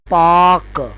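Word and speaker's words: pack: अब इसमें स्ट्रोक उसी तरह पी और के है जबकि वोवेल इसमें ए का है और सी साइलेंट है और आवाज इसमें ऐ की आ रही है।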